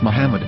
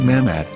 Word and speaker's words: Muhammad: yehuda's hebrew english dictionary it is correctly pronounced as muhammad not mahmod so how we're going